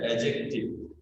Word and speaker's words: adjective: এর উচ্চারণ হচ্ছে অ্যাডজেক্টিভ। ডিটার উচ্চারণ হয় না, এই ডিটার উচ্চারণ হয় না, কিন্তু বানানে লিখতে হয় অ্যাডজেক্টিভ।